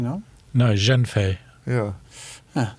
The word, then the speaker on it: Zhengfei: I'm pronouncing it wrong. It's Ren Pengfei, no? No, Zhenfei.